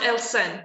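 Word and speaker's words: Aelshan: name is yeah okay a e l s h a n so it is pronounced el sen yeah right am i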